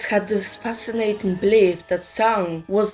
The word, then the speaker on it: Samhain: Sound is actually pronounced as sound or sound, but what does it mean?